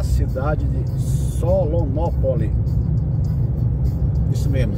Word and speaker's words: Solonópole: Se escreve no singular, não é no plural. Só não confundir. Muitas cidades que falam em ópole são pronunciadas no plural, né? Por exemplo, no Rio tem Petrópolis, Teresópolis, aqui é Solonópole.